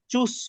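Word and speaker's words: Tschüss: এখানে দুইটা একটা হচ্ছে এটাকে চুজ বলবো না চুস বলবো তাহলে বর্গীয় জ হবে না দন্তস হবে বাচ্চ হবে এটা এক দন্তস হবে আর দুই নাম্বারস হবে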